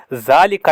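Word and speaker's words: ذٰلِكَ: और ये जो ज़ालिका है, ज़ालिका को लिखा जाता है इस तरीके से बगैर एलिफ के, लेकिन इसको पढ़ा जाता है एलिफ के साथ। ज़ालिका is pronounced ज़ालिका बट इट is written without elif, लेकिन इसको एलिफ के बगैर लिखा जाता है।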